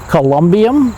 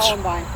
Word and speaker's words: columbarium: No, I think that's how you Say it again? Columbine? Okay. It's where it's Columbarium. Columbarium, you got it, yes. Okay. A winner, we have a winner. Then, okay, give me the spelling. And Yeah, there's more syllables than you originally had, but you got it now.